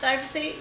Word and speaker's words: glyphosate: It's glyphosate.